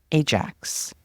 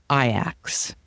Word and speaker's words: Ajax: mispronouncing the team's name it is spelled but not pronounced like the popular North American household cleaner Ajax but they say ax one of the team's